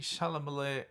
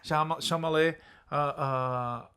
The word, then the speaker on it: Chalamet: Sealing, establishing, fortifying Timothy Chalamet. Are you adding a syllable on purpose? Chalamet. Yeah. Timothy Chalamet.